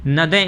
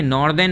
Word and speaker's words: northern: नॉर्दर्न India में, यानी नदर्न India पढ़ते हैं इसे, नदर्न, ठीक है, नॉर्दर्न नहीं पढ़ते हैं, ये हो गया नदर्न इंडिया, NORTHERN, ठीक है, नॉर्दर्न इंडिया।